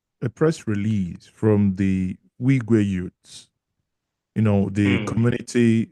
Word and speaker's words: Irigwe: Their is it irrig the R is silent just like you're trying to say igu but you put before okay okay so